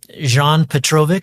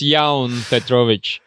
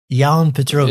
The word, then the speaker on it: Jaunpetrovics: uh not really it's ya Petrovic y Petrovic yeah in Latvia the J from L yeah so in lvia the J is pronounced as y instead of J okay gotcha gotcha and